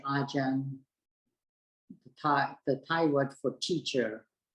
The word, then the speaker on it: Ajahn: But Thais sometimes have difficulty pronouncing, so some of the Thai teachers use the word Ajahn instead of Acharya for a teacher or a senior monk or monks at a monastery.